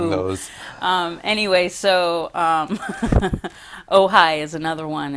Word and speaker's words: Ojai: white man could come to That's say right, pronouncing Malibu. those. Anyway, so Ojai is another one. It's Auhai, and that means place of the moon.